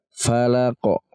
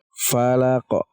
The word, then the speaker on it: falaq: Qul a'udzu birabbil falaq. Perhatikan. Falaqo. Kayak terdengar seperti ada pantulan. Ada sukunnya tapi kita seperti membaca qaf lagi. Falaqo.